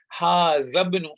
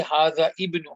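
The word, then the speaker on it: هذا ابن: If there's a word before hamzatul wasl, then this hamzatul wasl will become silent in your speech. You will not pronounce it. So, you say hadhabnu Hamidin. You can't say hadha ibnu Hamidin. That is incorrect.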